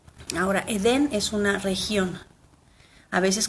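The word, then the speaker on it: עדן: Entonces, la primera, de derecha a izquierda, la letra Ain, Dalet, Nun, se pronuncia Edén, y se pronuncia Edén y se traduce como paraíso o placentero.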